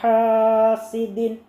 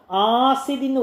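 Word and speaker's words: حاسد: അടുത്ത ആയത്ത് വമിൻ ശർരി ഹാസിദിൻ. ചില കുട്ടികളൊക്കെ വായിക്കുമ്പോൾ ആസിദിന്ന് വായിക്കും, അലിഫിട്ട വായിക്കണം. അങ്ങനെയല്ല, ഹായാണ്.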